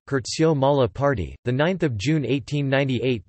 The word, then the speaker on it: Curzio Malaparte: Curzio Malaparte, Italian pronunciation, Curzio Malaparte, the 9th of June 1898 to the 19th